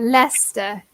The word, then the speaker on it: Leicester: very close though because what's worse is the pronunciation yeah Lester but javonni was really